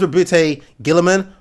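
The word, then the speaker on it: Roboute Guilliman: Yes, I know it's Robute Guilliman, but I've always just called him Robert Guilliman.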